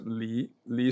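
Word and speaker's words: 离: Li is in the 2nd tone.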